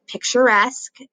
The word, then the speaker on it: picturesque: for the week called picturesque and that's exactly how you pronounce it sorry guys still numb picturesque that e-s-q-u-e says the s-sound journeys it is an